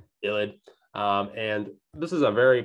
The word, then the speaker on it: ylide: midigrad reaction and that's our illid so it's pronounced ill did illid and this is a very powerful obviously reagent